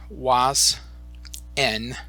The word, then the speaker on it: Oise-Aisne: once again to the was n American cemetery so these words are pronounced was and almost like the letter N was in American cemetery